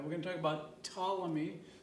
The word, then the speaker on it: Ptolemy: going to talk about ptolemy like you don't pronounce the p ptolemy i said in the